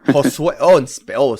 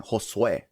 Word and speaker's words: Josue: It's Josue. Josue. Say it like with a Spanish accent. Josue.